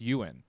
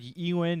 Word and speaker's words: Ewan: fantastic so i am excited so it's actually pronounced you in you know i've been looking up some pronunciation just to make sure we uh you know i've always heard ewing and you win and wooing all right i thought it was